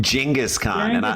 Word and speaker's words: Genghis: Genghis is actually the right way to say it in his defense.